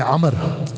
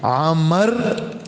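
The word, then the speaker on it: عمرو: नहीं जाता ऐसे ही अमर का लफ्ज के अंदर यह वाव साइलेंट है इसको पढ़ा नहीं जाता लेकिन वाव की वजह से न पर जबर और मीम पर सुकून पढ़ते हैं हजरत आमर अब्दुल्लाह इबन आमर नहीं यानी मीम पर जबर भी नहीं पढ़ेंगे और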